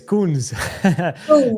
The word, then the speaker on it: Koen: it's so basically it's you can pronounce it as the second part of cocoon. So my normal name is Koen without the Z. The Z is, there's a long story to that from the gaming industry, which is my background. But basically, if you pronounce raccoon or cocoon, the second part is the pronunciation of my name, I suppose.